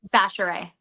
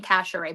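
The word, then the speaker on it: Chachere: Sachere. Sachere? Yeah, I've been saying Cashere, but it's Sachere.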